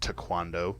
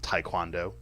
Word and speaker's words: Taekwondo: table tennis to cuando it is actually properly pronounced to cuando not Taekwondo just so you know tennis Track and Field